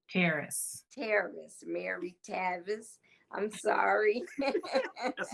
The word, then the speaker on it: Taris: Her name is Mary Travis. Terrace. Terrace, Mary Tavis. I'm sorry. That's a, Mary Tavis. And she is Terrace doing, is huh? like it rhymes with Paris, but with a T.